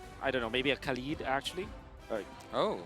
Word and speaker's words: Khalid: don't know, maybe a Khalid actually. Oh, How do I say that? hey? How do you say Oh, actually, my real name, it is Khalid. Khalid? Khalid. Yeah. Okay, so that's how we pronounce it.